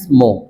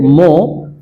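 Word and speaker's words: more: I have 10 times মোর। এই যে মো আমরা যে বলছিলাম, আর এর পরে যদি যে শব্দের শেষে যদি আর ই থাকে সেক্ষেত্রে আর এর উচ্চারণ হয় না।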